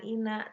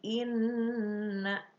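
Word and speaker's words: إنّ: Ali Imron ayat 190-191 Inna itu guna ya ada Nun bertasydid dibacanya jangan Ina tapi Inna Nah itu dipergunakan ya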